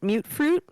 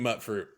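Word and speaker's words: Mutfruit: Your team mute fruit, right? It's gonna be mute fruit. Yeah. I'm team mutt fruit. That's how they say it in the games. They say mute fruit.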